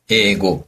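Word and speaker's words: 英語: 그래서 영화는 발음해 주세요, 선생님. 映画, 영어는 英語.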